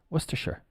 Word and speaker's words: Worcestershire: And then if we add the Shire on, it becomes Worcestershire. Sure. Like sure, yeah. Okay, no problem. Sure. Worcestershire.